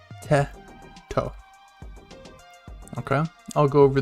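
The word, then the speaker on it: て: Next we have te, which looks like a T and you're gonna spell it 10, te, te.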